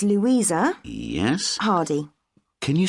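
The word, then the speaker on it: Hardie: yourself okay what's your name it's louisa yes hardy can you spell that please yes it's h-a-r-d-i-e great thanks and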